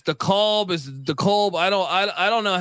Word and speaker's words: DeKalb: You get some games out there in DeKalb, and I feel like I always say it incorrectly. The fans tell me it's DeKalb.